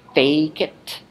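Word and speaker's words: fēcit: We did the lengthened stem vowel, agit becomes agit, widit becomes weedit, facit becomes fakit, emit becomes aimit.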